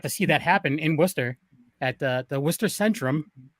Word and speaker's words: Worcester: that's the thing is it's spelled warcaster but we call it worcester and then you go